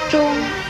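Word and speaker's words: 螽: 钟字的国语注音是钟，一声钟，知翁钟，一声钟。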